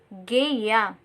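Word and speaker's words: GUI: computer should work windows uses a colorful graphics interface called geya that pronounced geya that can be seen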